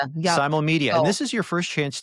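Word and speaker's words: Simulmedia: Simo Media or Sim Media. Simal Media.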